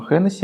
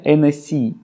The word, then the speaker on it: Hennessy: Кстати, произношение не Hennessy, как мы обычно произносим, а французы, если вы скажете им Hennessy, они вас не поймут. Правильное произношение NSC.